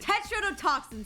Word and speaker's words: tetrodotoxin: Tetrodotoxin's how it's pronounced.